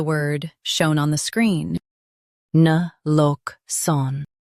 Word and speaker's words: naloxone: Both US and UK have the same pronunciation of this word. Na-lox-one. Now read the syllables shown on the screen naturally. Na. Lox-one. Na-lox-one. Stress lock and keep sun soft.